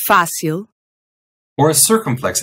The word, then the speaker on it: fácil: Rule 1. If a word has a vowel with a diacritic or an accent mark on it, then that syllable is going to be stressed. So if you see an acute accent, Like in fácil.